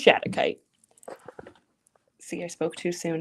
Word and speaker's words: shattuckite: I'm sorry, that's not stitchite. This is shattuckite.